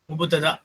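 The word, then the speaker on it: مبتدأ: முப்ததானா முபுத்ததா, முபுத்ததா நான் இங்க எழுதுறேன், முபுத்ததா இருக்கா, முப்ததான்னு சொல்லுவோம். எப்படி சொல்லுவோம், முபுத்ததா.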